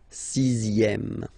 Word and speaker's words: sixième: Le dixième, so remember, even if you've got this Z, X here, you pronounce it Z, dixième, dixième, same thing as we had here, sixième, okay, le dixième, la dixième.